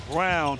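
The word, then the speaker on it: Braun: in transition which lead to open three-pointers is brown whose name is spelled Brawn but pronounced Brown Jay does not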